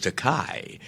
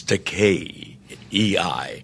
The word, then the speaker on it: Takei: called me George Takei a common mispronunciation of my surname because of the e I they want to give it that Germanic Einstein you know pronunciation but it's pronounced in japanese ER pronounced like the mediterranean languages Italian Spanish it's to Kei however and